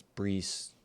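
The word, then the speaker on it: Breece: I want to say Breeze, but I could be wrong too, man. I think it's Breeze. B R E C E sounds right. We'll see. That's how I would pronounce it.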